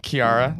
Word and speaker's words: Chiara: Chiara, I say it correctly as you said. Yeah. It's how the correct pronunciation of how an American would say it.